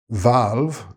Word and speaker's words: valve: Valve, note the two V sounds here.